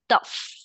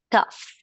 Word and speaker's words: tough: And this word, yes, it's tough. This GH you pronounce like an F. Tough.